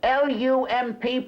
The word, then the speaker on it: Lump: to y'all good evening the names look L UMP pronounced lump have an acting company